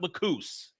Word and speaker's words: Lacus: freedom for 20 years they pronounced it lacis not lacus saying I'm saying lacis because it's the way they said it for 20 plus years suddenly you change it